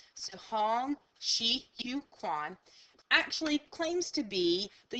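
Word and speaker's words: Hong Xiuquan: Now, I listen to many things of how to make sure I'm pronouncing this correctly, and this is the best interpretation you're going to get. So Hong Shi Yu Quan actually claims to be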